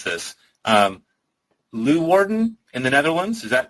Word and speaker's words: Leeuwarden: was actually set, and I'm going to horribly mispronounce this, Leeuwarden in the Netherlands. Is that even close to the right? Leeuwarden.